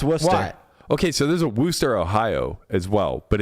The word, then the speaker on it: Worcester: second City no no that is Worcester yeah Worster wow that's Worcester okay so there's a Worster Ohio as well but it's actually spelled w